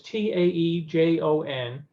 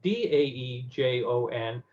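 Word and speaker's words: Daejeon: things, but it was Taejon. They recently have decided that that was the wrong anglicizing of the pronunciation, so it's now Daejon.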